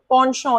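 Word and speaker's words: penchant: पॉन्शॉ बहुत अच्छा है, मतलब आपकी किसी चीज के लिए ना, पॉन्शॉ इसे ऐसे प्रोनाउंस करते हैं, बहुत इंटरेस्ट है, रुचि है, इंक्लिनेशन है, तो डिस इंक्लिनेशन हो गया एंटोनिम।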